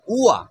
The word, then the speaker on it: ঙ: এই উম, এটা ম না কিন্তু উয়া।